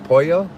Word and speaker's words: pollo: Pollo? How do you say polo? Pollo? You guys, I'm getting really good at my Spanish. I've realized lately that you don't pronounce the L's, right? Just like Castillo.